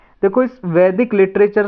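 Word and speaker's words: Veda: First heading डाल लो वेदा। इसे वेद बोलते हैं हिंदी में, और इंग्लिश में ए लगा देते हैं इसमें, लेकिन प्रोनाउंसिएशन वेद ही रहेगा, कोई वेदा भी बोल सकता है इसको।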